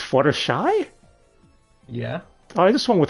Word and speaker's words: Fluttershy: this on dubster hi flutters she from My Little Pony friendship is Magic well see you said the name wrong so you're going to get the bronies mad it's Fluttershy yeah I just one